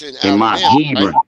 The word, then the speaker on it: Hebron: Don't but tell me how to spell it. It's Hebron, nigga.